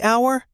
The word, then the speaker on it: hour: A hour or an hour? A hour. H is a consonant. Wrong. It is an hour. The H is silent.